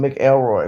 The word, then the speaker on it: McElroy: write down ken mcelroy i call him mick elroy but it's spelled like mick elroy miss ken mcelroy he